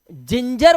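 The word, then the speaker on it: ginger: जाता है ठीक है इसी तरह से जी के बाद अगर आई वाई ई आता है तो इसका उच्चारण ज हो जाता है अदरक को इंग्लिश में गिंग नहीं गिर नहीं जिंजर बोलेंगे क्योंकि जी के बाद आ आया है जी के बाद वा आया है आप कसरत करने चाहते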